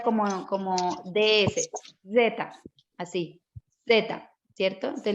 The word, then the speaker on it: zeta: y luego viene la zeta que se pronuncia como la zeta española zetas zeta es la